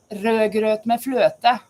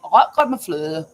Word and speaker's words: rødgrøt med fløte: If I'm in Norwegian, say rødgrøt med fløte. They say rødgrøt med fløte. It's the same word. Rødgrøt med fløte. Rødgrøt med fløte. But it's much easier pronounced in Norwegian.